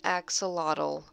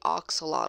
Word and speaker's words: axolotl: it's gonna do right here axolotl it's my axolotl I was gonna say ox a lot also thank got it you know they had